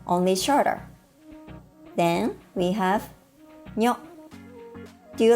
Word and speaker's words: にょ: Then we have にょ. Do you like Italian food? The Japanese にょ sounds a bit like にょ in gnocchi, doesn't it?